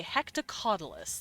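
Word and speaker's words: hectocotylus: Male octopus has a modified arm called a hectocaudalus.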